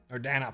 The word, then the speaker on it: Dana: How many courses does Xana need? Or Dana, right? Not Xana. Don't fucking. Yes, but also no. You could put the Z over there, but no. Dana, pronounce boss's name properly.